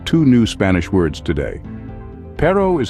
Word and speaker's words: perro: Spanish speaking country soon when you say Perro make sure to roll your RS just a little it's a classic Spanish